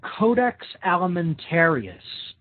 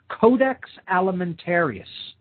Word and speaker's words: codex alimentarius: should definitely look into and research it's called codex alimentarius now big word there okay this is spelled c-o-d-e-x codex okay that means code in